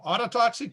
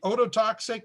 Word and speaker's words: ototoxic: effects we call them autotoxic drugs i pronounce it wrongly it should be ototoxic but either way works and my book called